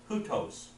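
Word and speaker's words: οὕτως: this one is hutos. Hutos. Not O, hutos, or Now this is a rough reading. Hutos. just hutos? Hutos. Okay. Yeah, it'd be hutos.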